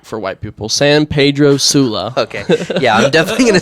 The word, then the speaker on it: San Pedro Sula: And then the area that you were focused in again, how do you pronounce that again? San Pedro. San- San Pedro. So like for white people, San Pedro Sula.